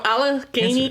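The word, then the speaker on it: Allegany: And then you So Alaney County is A L L E G A N Y.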